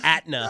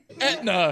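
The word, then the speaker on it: Aetna: All right, sorry, you work for Atna. No. Etna. It's Etna. Come on, Etna.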